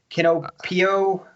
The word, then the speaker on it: Kinopio: Kinopio. Is that right? Kinopio? Yes. I don't know how to pronounce Cafe.